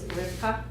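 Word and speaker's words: רבקה: that name is actually, bees are not bees in Hebrew. They're actually sounds like V.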